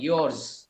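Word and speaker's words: yours: এগুলো শব্দ হচ্ছে স উচ্চারণ হবে না জ উচ্চারণ হয় ইওরস হিজ আওয়ারস ইওরস দেয়ারস ঠিক আছে এটা আবার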